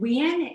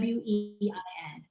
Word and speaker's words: Nguyen: We pronounce it Nguyen. It's like Nguyen. Wein.